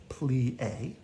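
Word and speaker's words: plié: learn Bree and I plie you say it like this plea we jeete you say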